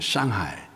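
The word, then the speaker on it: 上海: 서안, 시안, 그리고 항조, 수주, 수조, 그리고 상해, 발음을 멋있게 하면 샹하이, 그렇게 갔었는데, 제가 그 시안에 갔을 때에 사실 이 장소를 방문하면서 이렇게 보면서 굉장히 많이 놀랐습니다.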